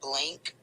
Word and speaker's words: Blinq: There is an app called Blink, and it's spelled BLINQ.